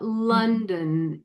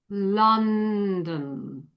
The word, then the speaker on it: London: Be careful about the uh sound. You know, where it's spelled with O here in this case, but it's still farther back on the tongue. It's not London. It's London.